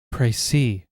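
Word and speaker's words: précis: How do you pronounce it? Price. Thank you, Google. Thank you, slamm. The court has now heard a precede of the case.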